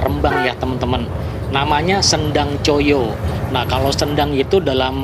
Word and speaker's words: Coyo: Cuman ada 4 huruf, C-O-Y-O. Tapi untuk zaman dulu tuh nama Choyo itu tidak 4 huruf ya, menggunakan ejaan yang belum disempurnakan atau ejaan lama, T-J-O-J-O. Jadi kalau T-J itu huruf C ya kalau untuk saat ini, dan huruf J itu dulu dibacanya Y.